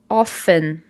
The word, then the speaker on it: often: Often. Often. Repete com a teacher. Often. Isso ela significa muitas vezes, né? Então, nós temos aqui essa letra T, mas não precisa pronunciar essa letra, tá? Apenas diga often.